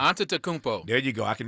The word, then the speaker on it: Antetokounmpo: Before Giannis, I can never pronounce his last name correctly. Antetokounmpo.